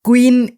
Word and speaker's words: Qwen: Search করতে হবে QWEN, কুইন এআই। এই যে বানানটা QUEN, কুইন না কিন্তু QWEN, কুইন এআই লিখে তোমরা সার্চ করবে।